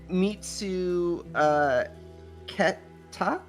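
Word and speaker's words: 見つけた: Oh, mitsu keta? Mitsuketa. Yes. Mitsuketa. You might have heard this word in anime before. Mitsuketa.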